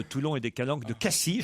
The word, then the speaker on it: Cassis: et des calanques de cassis je ne doit pas prononcer le s m'ont dit mes amis marseillais la dolce frégate provence